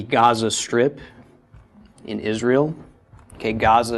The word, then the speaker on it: Gaza: So if anyone's familiar with the Gaza Strip in Israel, okay, Gaza is a very ancient name, but it's not Gaza, it's Gaza, okay?